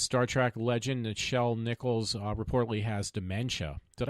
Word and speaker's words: Nichelle: I think it's Nichelle, because it looks like Michelle, but it's with an N. It is pronounced Nichelle.